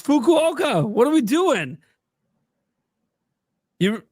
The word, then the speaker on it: Fukuoka: It's Fukuoka.